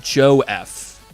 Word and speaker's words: JoaF: Tetra saying, "What if it's pronounced like Joe F?" Well, then why would the Where's What do I do with the A? What? The The A is just silent. It's no biggie.